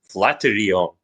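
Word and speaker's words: flatiron: so I'm going to call it as a flaterion. In fact, that's actually the correct pronunciation.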